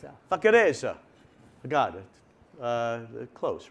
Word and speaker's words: Vaccarezza: talk about voice, you do roll your R's much better than I do. Could you pronounce your name, the last name with a good roll?